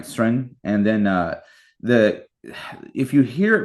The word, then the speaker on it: Søren: Anyway, but the O drops out, so it's like instead of Soren, it's like Sren, right? Sren, and then if you hear it pronounced sort of like phonetically, it sounds like Kierkegaard.